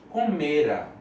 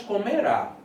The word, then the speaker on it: comera: Lucas comera. Não tem acento. Então, a sílaba tônica aqui, ó, paroxítona. Né? Não é Lucas comerá. Porque comerá é futuro. É Lucas comera, ok?